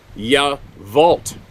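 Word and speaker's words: Yacolt: It's spelt Y-A-C-O-L-T, but it's pronounced Yavolt.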